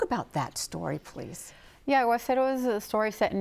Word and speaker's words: Aguacero: One of the stories, Aguacero, did I pronounce that? Aguacero, yeah.